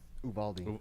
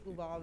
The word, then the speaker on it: Uvalde: I don't know how to pronounce the name of the city in Texas. Uvalde. Uvalde.